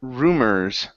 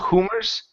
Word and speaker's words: rumors: Um, and your last one here is the word rumors right here instead of humors. Okay, this is rumors. Give me a good R.